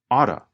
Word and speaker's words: ought to: Because he is not speaking very quickly, he pronounces it like this. You ought to buy the app right now. You can hear him pronounce the letter T. But as we have explained in many previous episodes, remember that the pronunciation changes when we talk faster. Ought to changes to oughta.